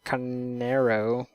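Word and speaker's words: Carneiro: kyle guy whatever anyways next up uh jonathan canero i'm probably saying your last name wrong i'm sorry i believe that's right oh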